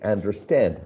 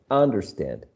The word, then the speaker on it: understand: second um element okay understand not understand and overflow not uh overflow